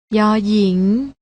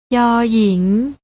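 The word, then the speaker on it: ญ หญิง: กัน ได้ แก่ พยัญชนะ ตัว แรก อ่าน ว่า ย หญิง และ ตัว ที่ 2 อ่าน ว่า ย ยักษ์ ลอง อ่าน ออก เีย เสียง ตาม นะ คะ ย หญิง ย ยักษ์ พยัญชนะ ที่ มี การ อ่าน ออก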